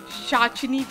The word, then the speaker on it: Pishachini: मुझे तो आप जानते ही हैं, संगीता घोष, और फिलहाल शाचनी पी साइलेंट दिव्य दृष्टि पर।